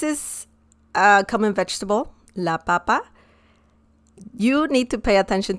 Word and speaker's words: papa: an accent mark because this one doesn't have any accent mark la papa so that's how you pronounce it if you add an